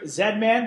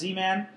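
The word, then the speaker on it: Z-Man: vaults file soia uh I zedman but I guess they pronounced zman and queen uh they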